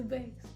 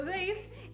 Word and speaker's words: bass: the course the how the bass the bass thanks i i always say that wrong always so the vase is doing a kind